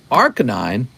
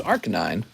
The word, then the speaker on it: Arcanine: that pidgey james says leon it's actually rk9 arcanine wow it's arc 9.